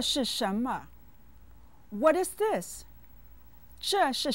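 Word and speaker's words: 什么: as you go along Schama is a question word that means what is set with the second and neutral tones listen Shama Shama Shama now repeat it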